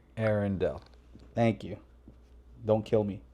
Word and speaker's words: Arendal: The emphasis is on the first syllable, with air sounding like the word for the atmosphere, followed by a short N sound, and ending with Dell, like in Dell Computer. Arendal.